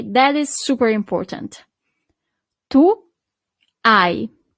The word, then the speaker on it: hai: Tu, hai. So you don't really pronounce the H at the beginning.